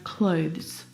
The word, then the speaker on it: clothes: and not clothes either the difficult thing about the pronunciation of this word is the two consonant sounds V and Z together both of those sounds are voiced consonant sounds so the sound is